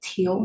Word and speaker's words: Teal: not what it is it's West teal how do you spell it t e a l like the color yes West teal Road